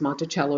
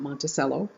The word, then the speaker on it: Monticello: go to the website Monticello org yes it's pronounced Monticello not Monticello you will find that the two places that